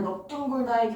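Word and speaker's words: 넓둥글다: 근데 이제 넙죽하다 같은 경우에는 넙으로 발음을 해주시고, 그다음에 넙둥글다의 경우에도 넙으로 발음을 해준다.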